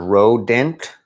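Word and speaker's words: Røde: play on the word rodent. That's what I heard. So they decided we're going to go with the O thing, which would be pronounced Rode.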